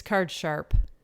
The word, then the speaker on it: card sharp: i always say card shark card shark it's card sharp card shark i always said card shark too